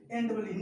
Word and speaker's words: knee: से पहले के हो, स्टार्टिंग में एन से पहले के हो तो के साइलेंट हो जाता है। आर you getting? तो देखो NEE, नी का मतलब क्या